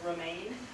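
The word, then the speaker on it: RMIAN: The organization in Colorado is pronounced actually Remain, and they do now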